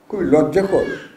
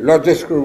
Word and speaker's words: লজ্জাকর: আর এখান থেকে কিন্তু পত্রিকায় যারা কাজ করেন তাদের একটি তাদের সম্পর্কে খুবই লজ্জাকর, একটি লজ্জাস্কর বলছি না, এখানে অনেকে লজ্জাস্কর বলে ভুল লেগে না, লজ্জাকর জিনিসটা প্রয়োগ করা হয়।